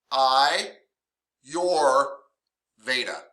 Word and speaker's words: Ayurveda: what we've done so far let's talk about ayurveda or urtic Medicine by the way it's pronounced I your Veda or Aur veic medicine ivetic ayurveda ayurvedic medicine uh is arguably one of the